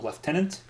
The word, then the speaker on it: lieutenants: for this like shitty lieutenants or as they pronounce in the film left tenants like it's talked about